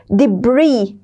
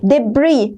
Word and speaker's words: debris: the problem of orbital debris. Okay? شايفين هاي الاس؟ هاي الاس كمان silent. تكتب ولا تلفظ. Debris. ما بنحكي debris. تمام؟ Debris.